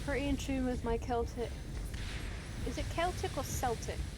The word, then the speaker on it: Celtic: It's spelled Celtic, but it's said Celtic weirdly.